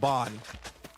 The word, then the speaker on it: Ban: I was thinking it might have been a reference to the Seven Deadly Sins character whose name is spelled B A N but is pronounced Bon.